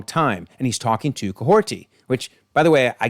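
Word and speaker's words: Kahhori: So, there's no T in the spelling, but it is pronounced Coahorti.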